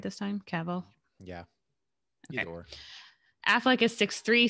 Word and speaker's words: Cavill: cavill did i say it right this time cavill yeah affleck is six three so he won